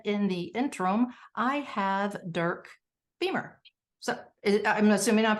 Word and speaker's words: Dirk Beamer: us shortly but in the interim I have Dirk Beamer so I'm assuming I'm pronouncing that correctly um you got it right